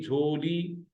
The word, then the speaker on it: झोली: पहले हिस्से में तोड़िए झे वा जबर झो लाम ये जेरी ली लाम ये जेर ली झोली वही प्रोनंसिएशन जो उर्दू वाली है फर्क ये है